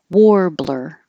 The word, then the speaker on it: warbler: Warbler. It looks like AR, but it sounds like OR.